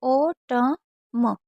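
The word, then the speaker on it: autumn: जैसे ए यू को ओ पढ़ा, टी को टा पढ़ा, यू को साइलेंट रखते हैं बीच में तो ओ ट म, क्योंकि एन हमारा साइलेंट है।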